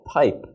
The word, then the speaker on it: pipe: So, notice here, the first sound is in the beginning of the word and there are no consonants around it. So this receives an aspirated sound, p, but once we